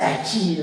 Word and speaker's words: Etchy: Liam always corrects me, like, damn it, it's etchy, or I don't know.